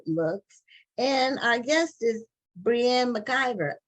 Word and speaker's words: Breanne McIvor: and I guess this Brienne McIver um hopefully I'm pronouncing your name correctly it could be but she will tell us what her how her name should be pronounced and we welcome her to like on this matter TV thank you so much for having me and yes you pronounced it perfectly oh okay and you